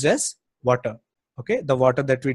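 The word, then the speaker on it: Watir: it is spelled as water but it is pronounced yes water okay the water that we drink or you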